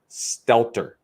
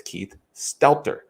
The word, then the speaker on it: Stelter: I've been getting his name wrong. Keith Stelter. Stelter. So for everybody else out there that's listening, it's Keith Stelter.